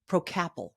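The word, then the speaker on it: Procapil: safe natural ingredient called procapital I had a tough time pronouncing it the first time but it's Pro capital to effectively Target the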